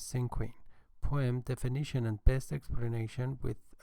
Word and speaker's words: Cinquain: I'm going to give a presentation on a very short article entitled Cinquain Poem or Cinquain Poem. There are two pronunciations, but the official pronunciation is Cinquain Poem, definition and best explanation with examples.